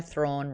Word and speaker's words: Thrawn: Just that I said that there's a reason why Thrawn rhymes with yawn, but after KP's donation, I don't mean it.